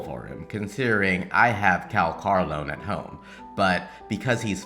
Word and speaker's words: Calcharo: If we take it how the English voice actor says it, then it's Calcharo.